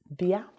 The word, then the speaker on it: bia: And the word I will use to talk about B today is bia. Come. Bia. Come. Let's pronounce that together.